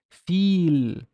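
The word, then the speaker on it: فيل: So it's a long e sound. So it's feel, feel. Feel is elephant.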